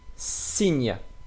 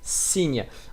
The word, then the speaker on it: signe: Here, signe, signe. Of course, you see here gn. We will learn that after. So when you see gn, we pronounce that like nye, nye.